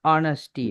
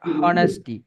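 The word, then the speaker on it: honesty: அதே போலதான் ஆனஸ்டி, நாட் ஹானஸ்டி, எச்ல ஆனஸ்டி.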